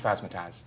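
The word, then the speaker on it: Phasmatys: It's not Phasmatis. actually called Phasmataz.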